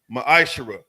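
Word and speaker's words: מעשר: 8-10 it means 10th in the Hebrew is pronounced maishara 10% of every penny of any increase the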